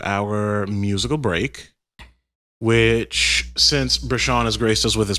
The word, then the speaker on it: Breshaun: Breshaun. Okay. Yeah. But it's spelled BRSN.